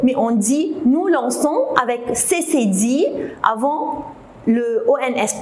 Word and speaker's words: lançons: mais on dit nous lançons avec CCD avant le ONS. Pourquoi? Parce que si je ne mets pas le CD, on va la prononcer comment? Lancon. Alors c'est faux, il faut mettre le CD.